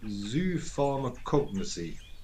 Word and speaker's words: zoopharmacognosy: And a 6-syllable word at that.